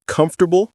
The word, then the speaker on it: comfortable: Were you pronouncing comfortable with four syllables?